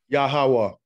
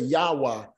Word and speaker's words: Yahawah: yeah don't respond um would someone try to sound this out yo hey wahey without trying to insert any vowel sounds just wrong just yelled hey what would that pronounce yahawa so we have yahawa some may say so we have him saying yahawa some say yahwah because what they're doing is they're trying to pronounce these letters and at the root